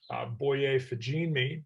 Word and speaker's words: Boye Fajinmi: So for our next session, I'd like to introduce Reed Haley, Derek Lucas, and Amanda Marino, as well as our moderator, Boye Fajinmi.